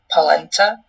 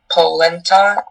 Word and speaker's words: polenta: There are a few alternate pronunciations. There is polenta, polenta, polenta, and polenta. Okay, so polenta, is that correct?